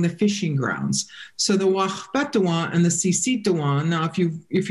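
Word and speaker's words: Waȟpéthuŋwaŋ: The Wachpetuan, that's the dwellers among the leaves, and the Sisituan, the dwellers among the fishing grounds. So the Wachpetuan and the Sisituan, now if you're from here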